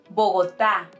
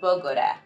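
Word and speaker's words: Bogotá: or anything else also it's Bogota not bogora or Pagoda or any other thing and also Medellin not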